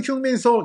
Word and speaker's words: 손흥민: 게리 리네커가 바로 웰던 흉민손 이렇게 얘기합니다. 손흥민 선수에 대한 발음을 영국에서 많이 흉민손이라고 발음하는데요.